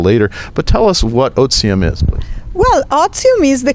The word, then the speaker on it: Otivm: i've been calling them audium or odium but it's oxime right is the latin pronunciation so the ti is a z so option is the